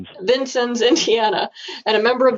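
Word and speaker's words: Vincennes: Troy Hinkle is the development director for Knox County Soil and Water Conservation District in how do you pronounce that city? Vincens's Vincens's Indiana and a member of the steering committee for South Southern Indiana Cooperative Invasives Management.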